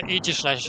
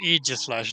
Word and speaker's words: Aegislash: I mean, to be fair, Aegislash is also just a really cool Pokemon, so yeah. Also, yes, it's pronounced Aegislash, not Aegislash. And especially not Aegislash. I get a bit peeved about that one.